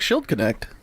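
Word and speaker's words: Schildknecht: what slid connect Ashley I have a feeling that you're pronouncing some letters that shouldn't be pronounced there s CH I LD k in ect apostrophe s yeah that sounds like shield Connect yeah I think you're right never mom he made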